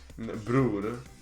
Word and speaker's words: bror: Bror. Bror. Bror. Me, but Swedish. Huh? Bror. It's like Blair, but with someone not knowing how to pronounce L.